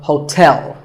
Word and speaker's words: hotel: is hotel there are two syllables ho like the english word tell as in tell me the stress is on the second syllable so hotel a related word is